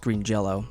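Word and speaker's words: Green Jellö: through a list here um but it is pronounced green jello so that's limited to 1500 copies and it's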